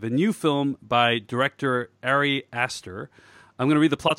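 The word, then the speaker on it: Ari Aster: trailer for hereditary of the directorial debut of arias sir sorry Esther how do you print digital pronounce it alright yes question let me do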